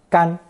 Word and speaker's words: 甘: It's pronounced first tone, 干, gan.